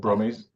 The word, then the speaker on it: Brummies: People from Birmingham are called I Brummies, Brummies.